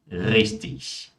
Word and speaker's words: richtig: IG no final de palavras, por mais que nós tenhamos o G ali no final, mas IG é pronunciado como ich. Então, nesse caso, nós temos Ludwig, ewig, fertig, richtig.